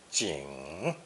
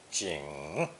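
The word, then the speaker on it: 景: sun radical on top it's pronounced third tone ching ching from its original meaning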